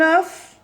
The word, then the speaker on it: œuf: Un œuf بيضة بتصير des œufs. Des œufs, j'ajoute S, mais je ne prononce pas le F au pluriel. Au singulier, je prononce le F.